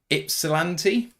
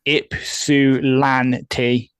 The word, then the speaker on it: Ypsilanti: from a place in Michigan that I cannot pronounce. Ypsilanti?